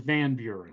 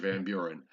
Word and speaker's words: Van Buren: to why okay just just make sure you pronounce the why mr. Buren its mr. Van Buren yes mr. Van Buren okay you're right for Cena pedia googling is